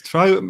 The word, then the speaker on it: Trow: Is it pronounced Trow? What's the? It's Trow.